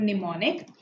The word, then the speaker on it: mnemonic: That's called mnemonic. So this is using mnemonics. The M is silent.